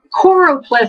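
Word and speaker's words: choropleth: um there's the choro choro ple map I always mispronounce that and call it choro it's called chlorop not chlorop I always want to say chloro but I guess I'm thinking chlorox or whatever there's the we'll look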